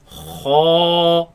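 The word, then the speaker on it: خاء: Let's pronounce it. Kha, Kha, kha, kha, kha, kha, kha.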